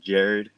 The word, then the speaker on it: Jhared: all right so uh my name is pronounced Jared it's a little bit different in the spelling uh with the H so yeah growing up